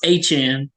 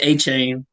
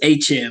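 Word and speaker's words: Achane: I believe he said he wants to pronounce aan people have been saying a Chan but yeah that's what he said after after the game that's what he told reporters please if you're gonna say my name pronounce it aan not a CH so but four touchdowns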